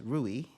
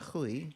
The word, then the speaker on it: Rui: to them just like phonetically I would read it as an English be speaker as ruie and not huie corre um or thankfully